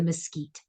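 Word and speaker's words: MSCEIT: Caruso emotional intelligence test we pronounce it the mosquite so as I said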